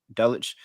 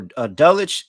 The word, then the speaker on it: Dulcich: How do you pronounce his Yeah. name? Dulcich. Yeah, so Dulcich, it seems like he is practicing and he could potentially return to this game.